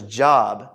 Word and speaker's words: Job: Now, some of you are like, Job, I thought his name was Job. Okay? That's fine. You can mispronounce it for the next 20 seconds. From now on, it's Job, okay? It's just Job.